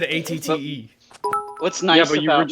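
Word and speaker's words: AT-TE: It's not Acte as you would pronounce it? It's not. I said ATTE.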